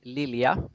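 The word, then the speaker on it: Lilja: say your last name yeah sweden we say lilia but i understand that's quite hard to pronounce in english okay so it's lilia's library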